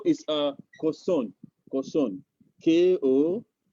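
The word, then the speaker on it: kosong: 0 is a Koson. Koson. K-O-S-O-N-G. 0. Koson. Koson. The G is silent, silent.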